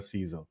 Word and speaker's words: Caesar: child, irrespective of gender, Caesar. You can do that for the sponsors, guys. And you know, if you're very upmarket, you can pronounce it with more of an A.